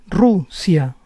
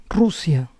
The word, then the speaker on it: Rusia: When a word begins with R, this R is always a rolling R. Racista, racista. Rusia, Rusia.